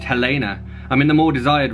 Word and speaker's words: Helena: I'm no longer Helen, but Helena, pronounced Helena.